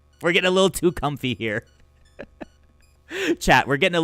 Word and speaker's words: Comfey: Comfy. It's a very comfy. It's just pronounced comfy? Like that? Like comfy?